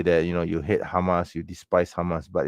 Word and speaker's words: Hamas: be the children of Hamas, okay. It's not Hamas, it's Hamas, okay. That's how it's pronounced.